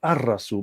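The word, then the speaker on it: الرسول: in spoken Arabic, Al-Rasul, the Prophet, is pronounced as Ar-Rasul because Ra is the blending sun letter.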